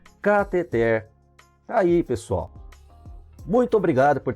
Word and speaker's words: cateter: E a palavra cateter é oxítona, tá? Muita gente pronuncia, aliás, quase 100% das pessoas pronunciam catéter, mas a palavra é cateter.